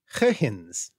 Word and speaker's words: Huygens: In fact, his name really should be pronounced as Huygens.